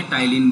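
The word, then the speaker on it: ptyalin: एक होता है हमारा अमाइलेज बोला जाता है, सलाइवरी अमाइलेज या टाइलिन बोला जाता है, टी साइलेंट होता है, ठीक है।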